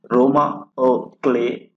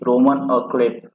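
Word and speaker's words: roman à clef: इसका प्रोनाउंसिएशन रोमा अ क्ले है, ना कि रोमन अ क्लेफ।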